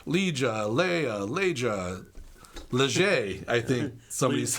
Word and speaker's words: Leja: Leja.